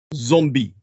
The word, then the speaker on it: zombi: with is the Haitian Zombie. This is spelled in the Haitian Creole. Their language is what's called a Creole. It's spelled Z-O-M-B-I. And that's very important. It's an important distinction. And the pronunciation, zombie.